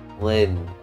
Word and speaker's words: Lynne: Lynne. Yes, it's one syllable.